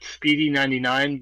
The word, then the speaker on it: Speady99: So my Twitter is at Speedy99, but it's spelled SPEADY Mm.